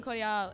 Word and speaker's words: Cordiale: thank you very much pronounce it lime cordial I'm call y'all it's a little bit francais cordial faux francais did you guys learn